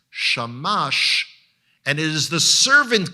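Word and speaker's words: שמש: for the fact that it's the vowels under that tell you that the word is pronounced shamash and it is the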